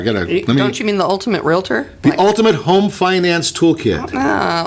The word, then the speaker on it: realtor: I've got a real estate license, and I am not qualified to be a realtor.